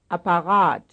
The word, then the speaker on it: Apparat: Here are two with the stress on the last syllable. Formular, Apparat, Formular, Apparat, 40, And